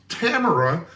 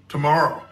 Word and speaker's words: Tamara: arbitrary stupid goal by tomorrow shopson and you can see how the name is spelled I thought it was pronounced Tamara until I watched some YouTube videos and it is pronounced tomorrow so there's a booktube